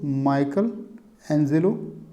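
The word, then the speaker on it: Michelangelo: यहाँ मिस्टेक हुई है, ये सब जुड़ गया है जबकि दोस्तों ये अलग है। इसका दोस्तों प्रोनाउंसिएशन है दोस्तों, माइकल एंजेलो इज़ the painter mentioned bye Elliot in.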